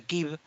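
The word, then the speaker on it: Kyiv: están hoy en Kiev, que en realidad en ucraniano se pronuncia Kiev, que están transmitiendo en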